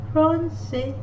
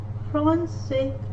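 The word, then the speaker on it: français: city like s likes a sign underneath drawn underneath which is called cd the s like sound as like character drawn under the letter c in that case doesn't matter which letter the letter c follows it has to be sound pronounced as su circle receives you francais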